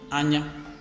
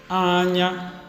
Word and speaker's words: anya: So for the first word, we will have anya. So if you are to hum it before you attempt pronouncing it, you could just do anya.